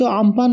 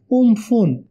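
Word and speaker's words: Amphan: সর্বশেষ গত 20 মে 2020 সালে সংগঠিত আমফান নামের ঘূর্ণিঝড়ের নামের মধ্য দিয়ে শেষ হলো এই নাম। আমফান নামটি দিয়েছিল থাইল্যান্ড এবং এর উচ্চারণটি আসলে উমফুন। এখন পরবর্তী ঘূর্ণিঝড়ের নামের জন্য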